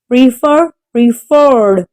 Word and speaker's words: preferred: Preferred. The stress is on the second syllable.